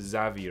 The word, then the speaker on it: Xavier: 他名字发音应该是 Xavier 没有错，什么查维尔之类的。And why are his memes exploding across social media？